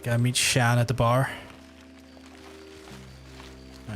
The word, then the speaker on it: Sean: Keep thinking you're saying Shan and No, I mean the proper pronunciation Sean is Shan.